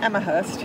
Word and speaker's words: Amherst: Amherst.